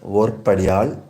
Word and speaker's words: Voipidiyal: Sometimes the word Voipidiyal, pronounced Vorpadiyal, is used for husband's brother's wife or wives of brothers may refer to one another by this term.